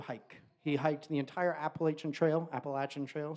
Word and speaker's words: Appalachian: He hiked the entire Appalachian Trail, Appalachin Trail. Sorry, I I say it like a northerner. I'm supposed to say it, Appalachin.